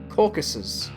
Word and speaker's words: Caucasus: O oh, I am pronouncing it incorrectly. Pronunciation. Caucuses. Caucuses. Caucuses. Okay. My bad. My bad. Caucasian, I think. Yeah, that's what I was looking for. Like caucus. You're Caucasian from caucus. No, it's caucuses.